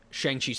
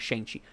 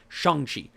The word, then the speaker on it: Shang-Chi: Shang-Chi's father. I keep saying it wrong. Not Shang-Chi. Shang-Chi.